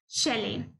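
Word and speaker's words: chalet: इसकी प्रोनाउंसिएशन है शैले।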